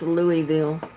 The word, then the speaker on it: Louisville: Gabby says, I do really believe it's pronounced Louisville. That's what I was thinking. Because I don't think they pronounce the S in it.